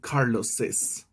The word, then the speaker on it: Carlos's: apostrophe and another S, but the pronunciation will be Carlos's.